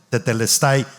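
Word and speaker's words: τετέλεσται: prestada esta palabra que se escribe teleste se pronuncia tetelestai se escribe en la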